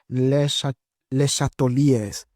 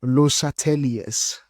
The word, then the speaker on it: Le Chatelier: So in French they call it les chateliers. Okay, so it's les chateliers, right? So this is the principle we need to know of by heart. So in in French it's le Chatelier's principle. All right, le Chatelier's. But because we don't speak French, we must say le Chatelier's.